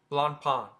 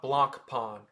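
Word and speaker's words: Blancpain: company Blan Pon and you try your best not to pronounce the C in the middle if you're pronouncing It the French way Balan Pon blond Pon not Blan Pon blond Pon and it's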